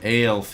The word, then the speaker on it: Aelf: by allied elf units or al units as it's spelled in Sumer kind of sounds like a saying elf with like a southern accent Anna played em ales